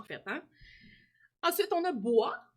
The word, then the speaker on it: bois: Ensuite, on a bois. On a une lettre muette ici, alors je l'enseclerai parce que ça vient du mot boiser, hein?